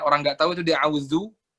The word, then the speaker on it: أعوذ: Tapi yang harus digarisbawahin yaitu paling banyak orang nggak tahu itu di auzu. Auzu itu banyak orang yang bacanya itu zalnya itu agak-agak kayak dal, audu, kurang jelas.